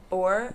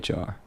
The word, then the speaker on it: Bohr: Bohr? Yeah. Are you sure? Bohr. Yeah, Bohr. I'm pretty sure. Anyways. And pronounce that guy's name.